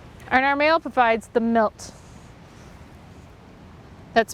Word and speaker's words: milt: And our male provides the milt. That's spelled M-I-L-T.